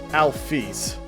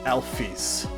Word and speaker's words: Alphys: Alphys' name is pronounced, Toby Fox reveals that it's pronounced Alphys. I might have pronounced her name as Alphys before, but that's because that's how I've used it for a long time, and only recently has it been revealed to me that canonically it is pronounced as Alphys.